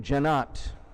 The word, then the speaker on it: Jennot: So Nigel, who's from Great Britain, says that's possibly French then, that Jennot pronunciation. So thanks, Nigel, and thanks, Kathleen. We will say Jake Jennot for the balance of the evening.